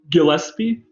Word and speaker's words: Gillespie: How's the pronunciation, please, doctor? Gillespie.